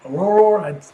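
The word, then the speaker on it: Ororo: Aurora. I was mispronouncing it.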